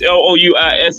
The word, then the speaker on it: Louis: Lewis you know names spelled differently actually they're pronounced differently like Joe Lewis l o u i s is Louis and John Henry is L W